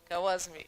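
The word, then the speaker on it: Khwarizmi: Okay, how do you pronounce? Kawazmi.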